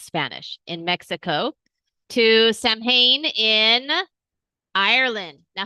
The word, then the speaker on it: Samhain: Ah, it is Samhain. Samhain. Okay, but I grew up saying Samhain because in English, that's what it is. That's what it looks like, right? But this is not an English word. So it's Samhain. And this is from Ireland.